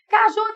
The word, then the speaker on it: caju: Caju! A sílaba tônica é ju, é uma oxítona terminada em u.